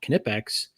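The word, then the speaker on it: Knipex: But I have another uh plier uh from Kipex and it is pronounced Kipex by the way.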